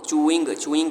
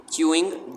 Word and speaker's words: chewing: अक्सर बच्चे ना इसको चूइंग कहते हैं। च्यू जब आपने पढ़ा होगा, आगे इंग की साउंड निकालनी है। च्यूइंग गम। At Stu's house, Andrew threw the ball very fast.